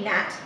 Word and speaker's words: gnat: for some reason it's like there's a g in front of it like a silent g nat and nasa was like